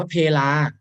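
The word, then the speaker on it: เพลา: แต่ ถ้า เกิด ว่า อ่าน ว่า เพรา เนี่ย มัน จะ หมาย ถึง แกน สำหรับ ที่ ทำ ให้ ล้อ มุม นะ ครับ อุปกรณ์ ที่ อยู่ ใน ล้อ รถ นี่ แหละ แต่ ถ้า เกิด อ่าน ว่า เพ ลา มัน จะ หมาย ถึง เวลา ได้ ครับ เป็น คำ โบราณ สมัย นี้ อาจ จะ ไม่ ค่อย ได้ ยิน ใคร พูด แล้ว เวลา เช้า เพ-ลา เย็น แต่ ให้ รู้ ไว้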